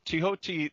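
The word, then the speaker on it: Thoth: Tehoti is the correct pronunciation of the T-H-O-T-H, right, according to most scholars.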